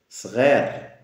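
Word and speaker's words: sghir: trila Touila oui petit ser ser alors il y a le GH il y a le S GH c'est le r français on revient toujours à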